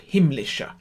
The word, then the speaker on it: himmlische: And one syllable not to emphasize, which is the sh of himmlischer, because that falls on a strong beat, but it's not a strong consonant, strong syllable in the word. Himmlische. That's how we say it.